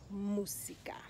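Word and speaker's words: música: what about another word musica musica the emphasis is on the u it's on the first syllable so we say musica let's say you go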